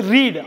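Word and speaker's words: read: ஒன்று வந்து ரீட், ஆர்இஏடி படிக்கிறது. இன்னொன்று வந்து அதோட பாஸ்ட் டென்ஸ் ஆன ரெட், ஆர்இஏடியை வந்து ரெட்னு உச்சரிக்கணும்.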